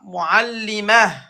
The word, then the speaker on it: معلمة: معلمات Non, c'est pas t. Ta, on va le prononcer comme ha. معلمة Voilà, muallima.